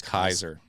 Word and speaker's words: Caesar: most likely Latin like the A E is pronounced I in Roman Latin. Right. I and the C is probably hard, so it's Kaiser. Kaiser.